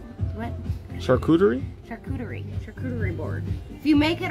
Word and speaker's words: charcuterie: I was thinking, I don't say this word correctly, but a charcuterie board.